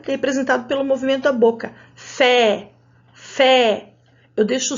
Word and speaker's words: fé: Fé pode ter esse som da letra E, fé, com o sinal gráfico. Mas se eu tirar o sinal gráfico, eu mudo o som da letra E em algumas situações.